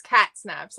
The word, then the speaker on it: Katsnaps: hello hi actually Harley it's cat snaps like cat hey yeah you know